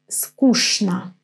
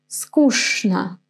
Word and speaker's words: скучно: You have probably noticed that in this dialogue there is one word with weird pronunciation. This скучно. You see, I don't read all the letters as I should, right? Скучно. Which letter is pronounced in a different way than in the alphabet? Yes, this ch. In this word, I'm going to say sh.